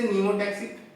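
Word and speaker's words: pneumotaxic: तो ये याद करने का चीज ऐसा है कि पी से न्यूमोटैक्सिक, ठीक है, वैसे तो ये साइलेंट होता है, ठीक है, न्यूमोटैक्सिक में पी आता है और ये पाया जाता है आपका पॉन्स रीजन में।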